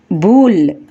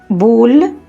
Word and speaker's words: boule: In French, the letter combination OU is pronounced more or less like the OU sound in the English word soup. That means OU is pronounced as OO. For example, boule, which means ball in English.